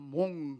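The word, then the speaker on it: mont: 몬트, T 발음이 안 나는 프랑스에서는 몽 그러면 몽블랑 그러면 흰 눈이 덮인 산, 뭐 이런 뜻을 가지고 있듯이 몽트라는 말은 산이라는 겁니다.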